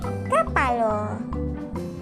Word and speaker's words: kapalo: Kepala menjadi kapalo. Kapalo. K di sini akan berubah menjadi K. Pa akan tetap dan La akan menjadi Lo. Jadi kepala menjadi kapalo.